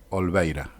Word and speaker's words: Olveira: Una pequeña aclaración: el integrante de los Curas por la Opción por los Pobres se llama Francisco Paco Olveira, y no como lo pronuncié cuando hacía la consulta en el podcast.